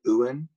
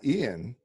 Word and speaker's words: Ewan: Is Ewan McGregor's name Ewan or Ian McGregor? It's not Ian.